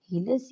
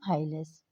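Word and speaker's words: hilus: Helios लेस कहते हैं इसको दोनों तरह प्रोनाउंस कर सकते है स्टूडेंट्स हीलेस या हाई लेस ट द पॉइंट य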